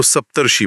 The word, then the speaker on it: सप्तर्षि: सप्त और ऋषि जुड़ते हैं तो सप्तर्षि बनता है। उच्चारण में अर की ध्वनि आती है और शी के ऊपर रेफ होता है।